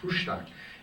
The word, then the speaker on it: Frühstück: But we serve what's called Frühstück. F-R umlauted U, H-S-T umlauted U, C-K, and it's pronounced Frühstück, and it's a traditional German guest house breakfast.